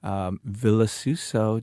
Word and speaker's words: Vilasuso: Vilasuso, just pronounce it phonetically and you will be fine.